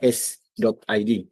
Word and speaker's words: s.id: Jadi dibacanya s.id.